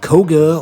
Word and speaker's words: Koga: And you know, um, Koga rhymes with toga.